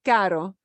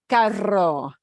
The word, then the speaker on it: caro: en oferta, caro, expensive, pero es importante que se pronuncia caro, no carro. Carro es el vehículo, el automóvil, ¿no? Pero caro es que cuesta mucho, ¿no?